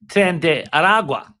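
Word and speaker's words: Tren de Aragua: It is tend Aragua. So I uh I I mispronounced the name.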